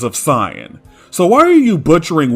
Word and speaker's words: Saiyan: When translating Saiyajin to Saiyan, the pronunciation is meant to remain the same.